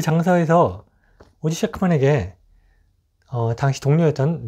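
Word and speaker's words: Ossie Schectman: 굉장한 저는 혼란이 있었는데, 그 다큐멘터리를 보면요, 오지 셰크먼이라고 발음을 해줍니다. 오지는 별명이었어요. 오지 셰크먼.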